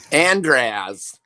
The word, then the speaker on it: Andras: let's say how do you say it Andy andraz it's like somehow Starbucks employee he doesn't say